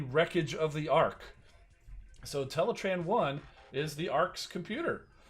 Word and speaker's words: Teletran: thing uh you know intellitran is typically pronounced ah that i've that i've seen but uh but hey g1 establishes teletran so we're going with teletran but anyway that's in